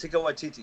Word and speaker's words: Taika Waititi: Taika Waititi, yeah. His name's Damn, there you go. fucking Shit. Takate. That's Taika Waititi.